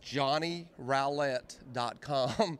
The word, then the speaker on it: Johnny Rowlett: And the way that I explain it to people is if you put a G in front of it, it'd be growl.